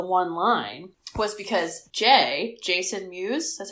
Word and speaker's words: Mewes: However, the only reason he does the one line was because Jason Mewes, that's how you say his name?